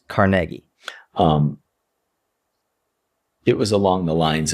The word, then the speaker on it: Carnegie: Some people have thought that the pronunciation was Dale Carnegie. I've heard both ways, but I think you are right. It's Carnegie. Or Carnegie, yeah. It's Carnegie for sure.